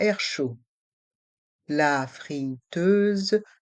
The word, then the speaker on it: chaud: Dans le mot chaud, les voyelles A et U font le son O. Chaud. Et le D est muet.